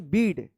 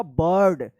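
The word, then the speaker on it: bird: इसको आप पढ़ते होंगे बीड। बीड बीड बीड गणते ही होगा। यह सही उच्चारण होगा? बर्ड यानी आई का यहां पे क्या उच्चारण हो रहा है?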